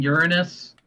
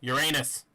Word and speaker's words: Uranus: mean here in Missouri there's one called Uranus you mean Uranus no Uranus that's how they pronounce it dead serious you can